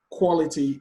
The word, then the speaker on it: quality: Defensive, quality, dependable, indiscipline. Question 43. Defensive, the stress is on the second syllable. Quality, the stress is on the first syllable.